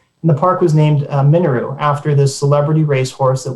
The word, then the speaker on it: Minoru: racetrack with my mother, she would always pronounce the name Minoru, de-emphasizing the first syllable, as all the syllables had equal kind of weight, as if the word were Japanese.